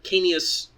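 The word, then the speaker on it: Caenis: The Canis, or Canius, because you're supposed to pronounce all the vowels, though Canis is the female name, and it's Canius for the male, was data mined with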